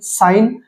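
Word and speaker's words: sign: एस आई एन जी एन साइन। तो यहां पे हम इसको साइन बोलते हैं। इसको कोई सिगन या ऐसा कुछ नहीं बोलते।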